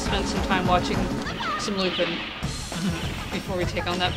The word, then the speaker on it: Lupin: I believe it's Lupin. Yep. As it is a French name. It's spelled is romanized Lupin with an I. It's katakanized Lupin, the pa sound, and as you say it's French. So Lupin is probably the closest correctness for the Japanese version.